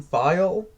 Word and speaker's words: Thayil: All right, now as for me, first of all, I will say I believe his name is pronounced Kim Thayil.